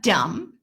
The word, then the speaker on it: dumb: debt I am indebted to you we have dumb do you MB you'll notice I don't say